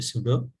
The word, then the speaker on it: pseudo: সুডো code, উচ্চারণটা হবে সুডো।